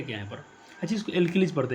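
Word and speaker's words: alkali: अच्छा इसको एल्किलीज पढ़ते हैं, क्षार का स्पेलिंग क्या होता है, एल्किली होता है, एल्कली, अनारकली नहीं बोलना है, एल्किली बोलना है।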